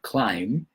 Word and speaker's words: climb: The most important thing is to be safe, whether you're climbing the Pyrenees Mountains, no, climb, whether that B you don't pronounce, whether you're climbing to